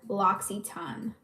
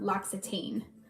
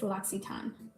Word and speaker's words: L'Occitane: I think it's L'Occitane. Like, it's not L'Occitane. Like, as Americans, we want to say L'Occitane. That's what we want to say. It's L'Occitane.